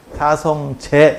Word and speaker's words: 사성제: 근데 우리는 이걸 재로 발음해. 사성재 이렇게 발음한다고.